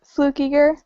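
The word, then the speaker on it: Fluckiger: just because I'm really yeah how do you say it it's flukiger fluk right what's your last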